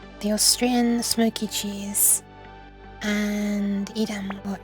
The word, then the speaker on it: Edam: be pronounced appar the Austrian Smokey cheese and Edam or Adam as it should be pronounced please yep that is cheese and the